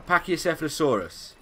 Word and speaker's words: Pachycephalosaurus: Now I found a Pachycephalosaurus.